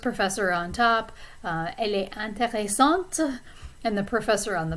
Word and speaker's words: intéressante: The middle set of adjectives, we have intéressant or intéressante. So this is masculine versus feminine. You pronounce the T in the feminine form.